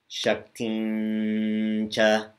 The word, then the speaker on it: Shaktincha: You might have noticed when we did the Shankaracharya, the previous one, shaktincha. Shaktincha. It's pronounced like a tilde.